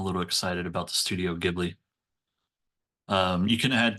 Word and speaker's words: Ghibli: And then how do you say the Ghibli? Is it Ghibli or Ghibli?